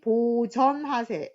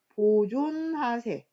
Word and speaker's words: 보전하세: 글자에서 엄청 많이 틀립니다 그리고 보우하사인데 갑자기 보호하사 이렇게 해서 또 틀리는 친구들이 있습니다 그 다음에 길이 보전하세 이것도 뭐 보존하세 발음 상의 문제도 있겠지만